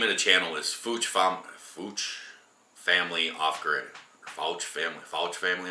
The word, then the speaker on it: Fouch: He said that the name of the channel is Fouch Family Off Grid. Fouch Family Off Grid, I think they pronounce it.